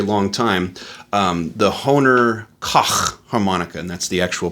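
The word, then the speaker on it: Koch: for a very long time um the honer K harmonica and that's the actual pronunciation by the way k c k o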